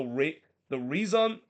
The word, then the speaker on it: Rezon: So they decided to go with this kit called the Reason Rezon jersey. That's how you pronounce.